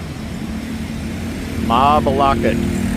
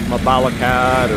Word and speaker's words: Mabalacat: All right, so it was a long trip up here from Telosagen to Mabalocket. Mabalocket, not Mabalakad or anything else.